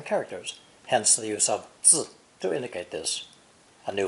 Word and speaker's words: 字: An infant under a roof means to bear and raise a child, pronounced fourth tone, 字.